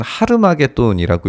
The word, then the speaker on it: 하르마겟돈: 아마겟돈이라는 곳은 어디일까 생각해 보면 원어 자체를 읽으면 사실은 하르마겟돈이라고 읽어야 됩니다.